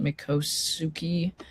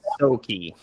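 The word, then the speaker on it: Miccosukee: is I don't even know how to pronounce that. Mikosuki. Those Mikosi.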